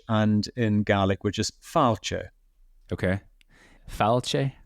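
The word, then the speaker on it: fàilte: in GIC which is fche okay fche F so um it's it's more in GIC because the accent is on the a you you more push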